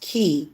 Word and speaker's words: qi: Pronounced key, QI, which is energy.